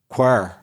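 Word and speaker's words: quare: It's the word pronounced quir.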